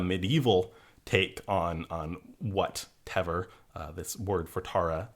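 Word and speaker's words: Temair: for people listening that teor in Old Irish it's spelled t e m a i r m being a lited m in in Modern Irish you would you would write MH to to represent that that V sound that I'm making so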